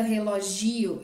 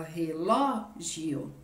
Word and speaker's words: relógio: jeito relogio relogio ela seria uma paroxítona mas a palavra relogio existe a gente fala assim não né então ela é uma proparoxítona porque a gente fala relógio ok e tem uma